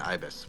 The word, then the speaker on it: ibis: He's an ibis. Or an ibis, whichever you prefer to pronounce it as.